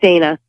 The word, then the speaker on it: Dana: Solingen Connecticut USA yeah now is it Dana or am i pronouncing that right yeah put Deena Deena lovely lovely day nice